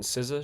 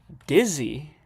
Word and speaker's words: SZA: Dizzy? That's how you say her name? Is Dizzy? Oh, SZA.